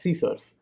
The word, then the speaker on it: CSRF: cross site request forgery csrf pronounced as c source it requires a token